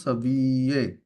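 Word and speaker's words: savez: Sabile sabile sabile সাবিয়ে double A silent থাকবে, sabie সাবিয়ে এরকম sound হবে, sabie okay সাবিয়ে, sabie jomo sabi না না না।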